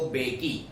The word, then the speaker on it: Mbeki: Second deputy president थे mister de Klerk और first deputy president थे थाबो बेकी. थाबो बेकी में जो पहले बेकी के पहले जो एम है वो साइलेंट है.